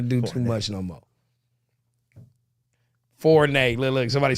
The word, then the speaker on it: Fournier: Fonwar? Fonwar? How do you say that name? Fournier? Fournette? No, Fournier. Fournier. Fournier. There you go.